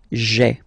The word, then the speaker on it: j'ai: So just to avoid pronouncing this je ai, because we think that in French it doesn't sound that beautiful, so we tend to take this e away, okay, so that you get this sound j'ai, okay.